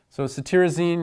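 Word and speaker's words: cetirizine: important with these medications socity Rosine is ear tech this TIR in CT reason is pronounced tear so you can think of tearing from allergy eyes loratadine has the added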